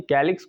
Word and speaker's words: calyx: क्या समझ में आया कि कैलिक्स को के लेटर से प्रोनाउंस करते हैं ये ऐसा नहीं कि